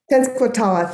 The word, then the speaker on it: Tenskwatawa: Connolly about my pronunciation. The spiritual leader, Tenskwatawa, thank you, kind of organized against these treaties as part of a movement against it.